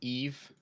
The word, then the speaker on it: Yves: Yeah, my name's Eve, which none of you will remember how to say. And it's spelled Yves. All right. Don't worry about it though. I don't mind because Eve, people okay. get it wrong. It's French. The French among you will have no problem whatsoever.